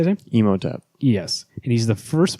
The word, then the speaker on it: Imhotep: you see mode upped how you say it Imhotep yes and he's the first member the first